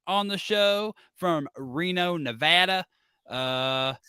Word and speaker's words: Nevada: the show from Reno Nevada uh pronounced it's pronounced Nevada no Nevada oh not Nevada it's a big a I don't know I